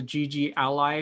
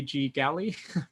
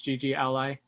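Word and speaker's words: GGally: it is in the gg ally package i think that's how you pronounce it it might be g galley but i'm pretty sure it's gg ally so what we're going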